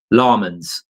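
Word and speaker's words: Lammens: a sports commentator from Answer told me it's pronounced lmen ls lmans in Philip ls on the end llmans. There we go. We'll find out. I'm going to go with lumens.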